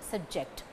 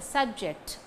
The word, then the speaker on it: subject: When the stress falls on the first syllable, sub, it is the noun, subject. When the stress falls on the second syllable, ject, subject, it is the verb.